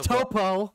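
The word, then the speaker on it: Toppo: The top card. Oh, yeah. Oh, the Topo. Sorry, Topo. No, it's Topo. It's not Top.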